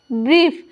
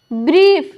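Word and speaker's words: brief: होता है यानी कि जब किसी वर्ड में आई ई या ई आई एक साथ रहे तो आई ई का उच्चारण ई बड़ी ई और ई आई एक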